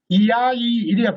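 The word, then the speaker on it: iai: 이건 세 개의 음절인데 이아이 이렇게 발음해야 돼요.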